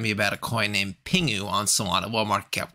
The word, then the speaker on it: PINGU: back to today's project Pingu so it's not pronounced pingju it's pronounced Pingu it's a promotional project they are on saana